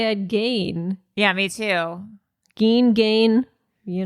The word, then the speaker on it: Gein: Ed Gein, because I cannot listen to you mispronounce his name. Oh, no. What did we say? His name is Ed Gein. Oh, Gein.